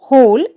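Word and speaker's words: whole: Next हमारा जो डब्ल्यू का नियम है उसमें आप देखिए, हु, हुज, होम, होल जैसे शब्दों में डब्ल्यू जो हमारी है वो हमेशा साइलेंट रहती है।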